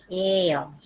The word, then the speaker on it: 연필이에요: 연필 se lee como una L, pero siguiente es muda y ahí va a leer 연필이에요. 연필이에요. 연필이에요.